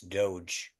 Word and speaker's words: DOGE: you appreciate it um okay uh apparently I'm pronouncing Dodge wrong it's Doge doge is Doge I was gonna let let